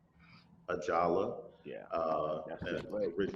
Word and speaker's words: Ajala: I don't want to mispronounce the name of your uh, series. Ajala. Ajala, Yeah, that's and his leg original, there.